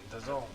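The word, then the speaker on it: DAZN: you're going to say it right the azn the zone that card hollywood florida we got demetrius andrade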